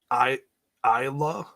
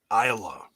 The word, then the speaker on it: Isla: It's pronounced Isla. Isla.